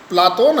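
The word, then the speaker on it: Πλάτων: प्लेटो शब्द का शुद्ध यूनानी उच्चारण प्लाटोन है।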